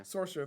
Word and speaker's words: Saoirse: Is that how it's pronounced? Saoirse, yeah. Saoirse, that's pretty.